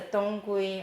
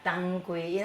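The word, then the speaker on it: 当归: The Dang, there's a Donggui, a Danggui. I told you again, the two mix up the north and the south. So Danggui or Donggui, as I say, it's two south and north pronunciation.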